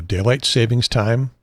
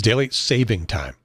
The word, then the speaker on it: daylight saving time: daylight savings time and yeah I know I'm saying it wrong daylight saving this time I'm saying it on purpose because I'm opposed to telling it is daylight saving time and anyone pedantic about it will make sure that they correct you if you say daylight savings time but I'm saying it